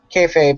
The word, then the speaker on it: kayfabe: You're pronouncing it right. Kayfabe, yep.